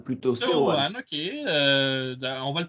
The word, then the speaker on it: Seoane: Il faut prononcer logiquement à la française, Seoane plutôt. Seoane, ok.